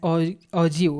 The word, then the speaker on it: ogive: The term ऑग्यू is pronounce as ऑजिव.